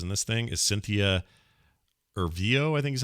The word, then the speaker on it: Erivo: And by the way, one of the greatest actors in this thing is Cynthia Erivo, I think is how you say her name.